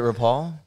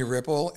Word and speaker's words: Ripoll: She's like, it's Ripoll. I'm like, that's how to say it.